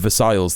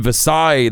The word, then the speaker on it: Versailles: Um, you don't even pronounce uh pronounce the L's in Versailles.